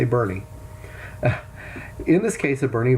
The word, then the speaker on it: Boerne: down there in Texas looks like born to me but they say Bernie in this case of